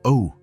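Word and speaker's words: eau: It's spelled E-A-U, but pronounced O.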